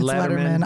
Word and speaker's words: Lederman: It's Lederman. I'm a natural leader.